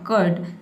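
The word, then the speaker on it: curd: देखिए कर्ड। Three का हो जाएगा क और यू आर का हो जाएगा अर। डी का हो जाएगा ड। आपका प्रोनंसिएशन इस तरह से होगा। कर्ड। लेकिन इसमें जो र का साउंड है इसको आपको नहीं बोलना। आपको बोलना है कर्ड।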